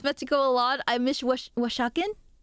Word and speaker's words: Oaxaca: I miss Oaxacan. Oaxacan. You gotta get hold on, I'm gonna slap that on Google Translate. How to pronounce this?